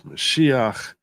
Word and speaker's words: Mashiach: And you really got to focus on the consonants. The m, the mem, which is an M sound, the shin, which has an SH sound, and the chet, or we say, Americans say ches, which has that sound that Americans struggle with. So, say meshuach, Mashiach, and that's the origin of the term Messiah, comes from that.